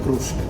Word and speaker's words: crusco: Lucani, e il peperone crusco. Peperone crusco. No, il peperone crusco, perché è proprio il caposaldo Sì. della Basilicata. Voglio capire. Crusco è un nome onomatopeico, sarebbe krusk in dialetto.